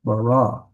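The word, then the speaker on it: בָּרָא: It's bara, not bara. It's bara, because here's the accent mark on that last syllable.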